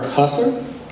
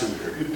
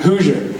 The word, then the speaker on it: Husser: Then we have Husser. Is that how I pronounce it? It's pronounced Hoosier. Hoosier. Just like, yes.